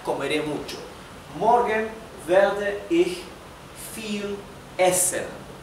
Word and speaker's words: viel: Y recuerden que en alemán, además de que la V se pronuncia como la F, la I con la E se pronuncia I, como una I larga de español.